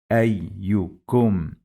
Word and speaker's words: أيكم: It has alif with fatha and ya with sukoon.